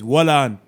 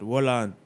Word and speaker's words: Wollan: and Skilly Bang with, I'm guessing it's Wallan. You know what I'm saying? Like, that's the only way I can see to pronounce that. Wallan. Jamaican term, you know what I'm saying? Like, hold on, but we say Wallan.